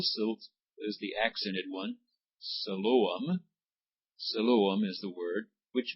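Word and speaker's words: Siloam: in the pool of Salam see it has three syllables there your pronunciation God marks them off three syllables the first I is the the I I mean is a long sound the O is a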